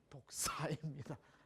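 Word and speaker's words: δόξα: 오늘 본문에 사용된 영광이라는 단어, 헬라어 원어를 보면 독사라고 말할 수 있습니다. 그 독사가 아니고 독사입니다. 발음만 독사이죠.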